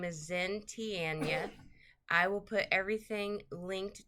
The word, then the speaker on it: Xin Tian: says happy birthday and um this is from Zen t ianya zentian that's how you say it um they